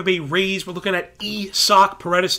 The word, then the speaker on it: Isaac: rays we're looking at e sock paredes love that it's not isaac it is esoc i do care about